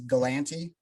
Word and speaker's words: Galanti: always say like my the way you pronounce my last name uh is galanti everybody and it's happened